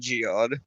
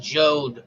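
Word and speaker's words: Jeod: however you pronounce it his name is pronounced jode like code he actually writes that out in the book it actually says when you're in the pronunciations jode rhymes with code yeah okay now i'm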